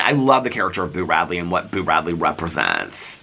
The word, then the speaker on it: Boo Radley: I love when people spell it B-E-A-U, because my dad and my stepmom had a dog named Bo, and so it kind of cracks me up a little bit, because B-E-A-U is Bo, and Boo is Boo, like B-O-O, like a ghost says Boo.